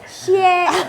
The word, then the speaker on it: Xie: Bacanya gimana sih Anthony? Anthony Xie. Xie.